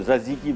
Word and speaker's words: tzatziki: तो इसमें 2 T दोनों साइलेंट है, तो ज़ज़ीकी बोलते हैं इसको, ठीक है?